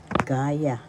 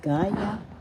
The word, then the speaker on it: gaya: first syllable second syllable gaya the second syllable has the accent so you pronounce this or because gaya and repeated gaya that